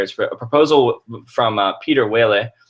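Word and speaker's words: Pieter Wuille: for a proposal from Peter Whaley that's how I've heard it pronounced and I could be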